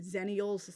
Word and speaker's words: Xennials: I'm in the category also known as Xennials, or some people pronounce it Zennials.